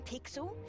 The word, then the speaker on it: Pixel: not weird guy i'm pixel it's easy to remember because it rhymes with pickle so it does i'm